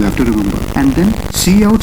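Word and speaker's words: cout: c o u d which we pronounce as c out and it stands for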